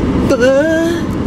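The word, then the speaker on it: pho: did you guys know the correct way to say B the Vietnamese soups is B that's a little accent huh you got to say like that you don't believe me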